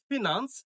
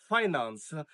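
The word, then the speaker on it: finance: আমাদের পরবর্তী ওয়ার্ডটি হচ্ছে আমরা পড়ি ফিনান্স, বাট এই ওয়ার্ডটার সঠিক উচ্চারণ হবে ফাইন্যান্স। আমি এই শব্দটি আবারও বলছি, ওয়ার্ডটি ফিনান্স না, ওয়ার্ডটি হচ্ছে ফাইন্যান্স।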